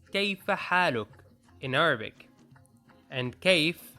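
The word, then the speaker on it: كيف: feharuk in arabic and kaif is pronounced like cave so how are you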